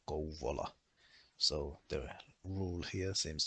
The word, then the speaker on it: Kouvola: is pronounced as sauva with a long V sound, and also the word vauva and the name of Kouvola.